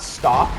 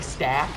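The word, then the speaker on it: STAP: I think all of the staff speeders are dead now. It's so hard to pronounce that. It's not stop, but it's like staff.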